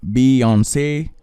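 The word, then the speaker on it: Beyoncé: So this context is basically this: Beyonce, Giselle Knowles Carter, pronounced Beyonce, born on September 4th, 1981, is an American singer, and all of that.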